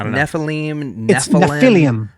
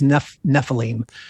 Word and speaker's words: Nephilim: now okay first off is nephilim the proper way to say it because i've heard nephilim nephilim it's the english anglicized word is nephilim okay so so i